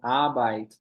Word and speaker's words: Arbeit: Lembrando, então, esse EI do alemão, igual do eins, ele tem som de AI. Eins, fica eins, assim. A gente vê eles em palavras como Arbeit, trabalho, Oppenheimer, ficou bem famoso, Oppenheimer. Tem sempre som de I na pronúncia.